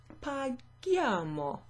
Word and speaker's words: paghiamo: So here, as in the example above, we add an H. Paghiamo, perfect. Now it sounds like the verb pagare because it's got that hard G.